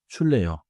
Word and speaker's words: 줄래요: has the 받침 followed by another sound. So pronounce it smoothly as 줄래요?